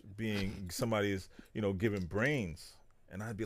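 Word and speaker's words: Brane: me back then as, Brain. B-R-A-N-E. A lot of times people would spell it or pronounce it with an S, but it's not with an S.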